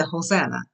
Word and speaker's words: Hosanna: And we say Hosanna. Because in Spanish, Hosanna, because the H is not pronounced.